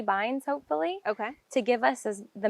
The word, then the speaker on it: bind: Yes, this is a hop yard, and these are binds, not vines. You are saying that with a B.